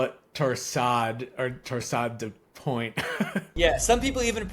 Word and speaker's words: torsades: Yeah, most people just call it torsade or torsade de point. Yeah, some people even pronounce the S at the end and say torsades.